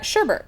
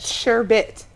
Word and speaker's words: sherbet: us how to make homemade sherbert correct yes you said it incorrect oh we did google it before how do you pronounce it sure bit ok that's how well